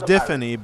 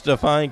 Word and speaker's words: Defani: It's Defani because he's actually my cousin, and that's how they say it.